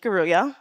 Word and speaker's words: Ngaruiya: That's my name, phonetically pronounced for you. I'm Christine Ngaruiya, first and foremost.